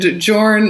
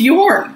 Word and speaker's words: Jorn: whole uh episode and jorn uh is apparently pronounced you're so we're learning a